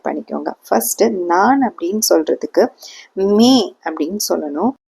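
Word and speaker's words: मैं: First நான் அப்படின்னு சொல்கிறதுக்கு மே அப்படின்னு சொல்லணும். ஹிந்தியில் மேன்னு சொல்லும்போது என் சைலண்ட் ஆகிடும். ஸ்பெல்லிங்கில் தான் மேன்னு வரும், ஆனால் நம்ம ப்ரொனவுன்சியேஷன் பண்ணும்போது மே அப்படின்னு ப்ரொனவுன்ஸ் பண்ணணும்.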